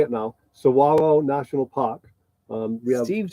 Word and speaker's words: Saguaro: We were perfectly comfortable, perfectly safe, perfectly level, and here we are and I know how to say it now, Saguaro National Park.